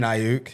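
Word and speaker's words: Aiyuk: I do not know how to pronounce this guy's last name. Brandon Ayuk. Yeah, Brandon Ayuk.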